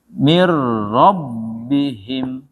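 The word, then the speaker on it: من ربهم: Min rabbihim. Min rabbihim. Ada 2. Gimana menyatunya? Mir rabbihim. Nah, gitu. Menyatu jadi 1 dia. Ini 2 menjadi 1. Cara bacanya menjadi 1 ya.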